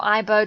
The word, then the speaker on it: Igbo: kenya down here and the Igbo or AIBO depending on how you pronounce it council of elders in